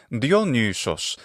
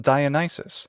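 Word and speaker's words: Διόνυσος: That's his name in the classical Attic pronunciation. Dionysus. We call him Dionysus. In Latin, his name is Dionysus. What changed? Well, Latin doesn't have pitch accent, like ancient Greek. It has instead stress accent.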